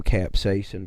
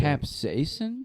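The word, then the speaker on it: capsaicin: I think it's pronounced capsason.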